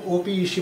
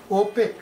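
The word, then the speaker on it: OPEC: একটা ওয়ার্ড বানিয়ে দিচ্ছ যেমন এটাকে কেউ ওপিসি বলে না আগে বলতো এখন কি বলে ওপেক তার মানে পড়ে মনে হচ্ছে যেন ওপেক মানে একটা ওয়ার্ড হয়ে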